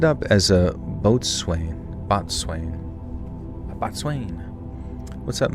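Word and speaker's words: boatswain: Botswain. I always forget this one. A Botswain pronounced Bos. Oh, Bosen. Oh, I'm an idiot. Bosen is a senior crew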